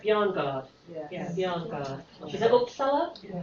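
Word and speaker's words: Bjarnegård: Ellen, and then do I pronounce it right? Bjarnagard.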